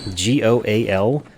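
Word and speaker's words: gaol: Which I learned that G-O-A-L, or that's goal, G-A-O-L, is, whoa! It's an archaic spelling of the word jail, and it's pronounced the same way.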